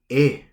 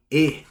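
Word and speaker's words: 絵: How do we say painting in Japanese? We say e, e, e.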